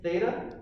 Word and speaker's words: theta: if you don't know this is theta that's how you say it it's the greek letter